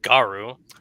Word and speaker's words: Garu: When this failed, he sent one amulet to Ashis Ree to be kept guarded by Lord Garu, rhymes with Waru.